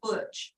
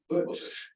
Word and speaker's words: Bush: That's how you say it, Butch. Bush.